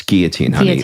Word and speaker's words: guillotine: and you're starting to get disoriented we don't pronounce the Ellen it's guillotine your mom the French speaker you ever call